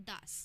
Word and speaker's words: das: सो हम मेल को बोलते हैं डेयर, फीमेल को बोलते हैं डी एंड न्यूट्रल को बोलते हैं दास. स्पेलिंग भी बता देते हैं.